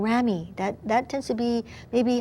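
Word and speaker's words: ramie: Thirdly, we also have something called rami. That tends to be maybe higher end sometimes. It's spelled R-A-M-I-E.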